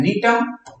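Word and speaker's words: Gnetum: और इस निटेल्स ऑर्डर के जो प्लांट है जिनको बोलते हैं नीटम, जी साइलेंट रहता है इसलिए उसको बोलते हैं नीटम।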